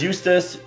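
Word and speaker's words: Eustace: is now eustus winner because eustus rhymes with useless and then we have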